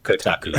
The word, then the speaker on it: Kotaku: Did you just pick up on that on that pronunciation? That's how you say it. Kotaku.